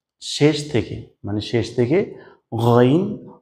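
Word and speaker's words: غين: ওকে, এরপর 3 নম্বরে ছিল শেষ থেকে, মানে শেষ থেকে গইন, খ, গইন, খ। আপনি যদি গইন, খ বলেন তাহলে দেখবেন শেষ থেকে উচ্চারণটা হচ্ছে, এখান থেকে উচ্চারণটা হচ্ছে।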